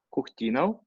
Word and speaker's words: Kukhtinov: E geralmente, essa terminação de letra O e V, vocês trocam por O e dois F. Mas aqui se escreve OF, Kurtinov. Mas nós falamos Kurtinov.